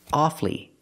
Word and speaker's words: awfully: the bad news or when I say awfully hard we hear two syllables awfully it's awfully hard not